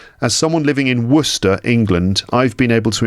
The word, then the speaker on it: Worcester: pronounced wer it's spelled War sester but it's pronounced Worcester as someone living in Worcester England I've been able to impress my friends